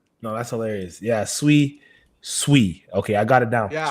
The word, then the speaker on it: Sui: So, I know of course like as you guys may know Dan, he's bullish on Sooie and the Sooie ecosystem.